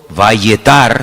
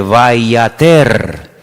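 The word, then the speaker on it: ויעתר: Es la misma palabra, pero se pronuncia de una forma diferente, vayater. Vayater, vayatar, vayater. Se escribe igual, pero las vocales se ponen diferentes.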